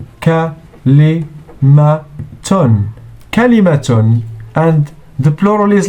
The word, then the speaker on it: كلمة: كاف plus lam plus mim plus ta equals كلمة. كلمة. And the plural is like this: كلمات. مهارة مهارات. كلمة كلمات.